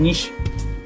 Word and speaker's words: niche: नीश को जो हम लोग NICHE लिखते हैं, लेकिन इसका जो प्रोनाउंसिएशन है NISH, नीश बोला जाता है आम बोलचाल में।